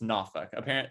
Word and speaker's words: Norfolk: We did a tour in Norfolk, Virginia. I have to say it correctly. Apparently, if you're from Norfolk, it's pronounced Norfolk.